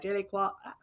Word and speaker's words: je ne sais quoi: A je ne sais quoi, or however you say that. Je ne sais quoi.